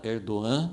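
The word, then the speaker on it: Erdoğan: Esse líder da Turquia, Erdogan, né? A gente geralmente fala com G, né? Como pronuncia em português, mas Erdogan é um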